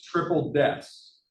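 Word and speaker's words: Triple DES: itself so it's called triple deaths three deaths you'll see the number three Des that the the professional way to pronounce that is triple deaths all right so if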